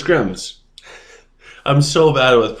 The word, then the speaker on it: Grimms: We're going to cover Grimace. So let's pull him up so that way we know what we're talking about. And I'm probably saying his name wrong. So it's Grims.